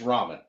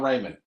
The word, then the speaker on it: ramen: those first of all it's Ramen it's not Raymond it's Ramen tomato tomato